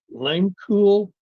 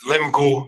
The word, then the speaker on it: Lemcool: Langcool? Yes, sir. Am I pronouncing that correctly? It's Lemcool, but yeah, pretty much.